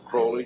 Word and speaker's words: Crowley: BR have his name pronounce Crowley to rhyme with holy and uh the Satanist